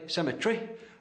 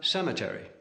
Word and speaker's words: cemetery: Webster wanted to oppose where the English say cemeter the Americans have Cemetery English laboratory American laboratory but pronunciation wasn't